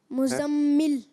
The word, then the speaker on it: मुज़म्मिल: मुज़्ज़म, हाँ, और फिर आगे मीम जे, मीम लाम जेर मिल, मीम ज़ार मिल, मुज़म्मिल, क्या बना? मुज़म्मिल, हाँ, तो ये मुजम्मिल है।